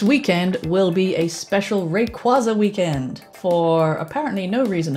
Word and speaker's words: Rayquaza: sometimes Rick was a-- or to pronounce its name properly Rayquaza because the name comes from Ray & quasar is a dragon and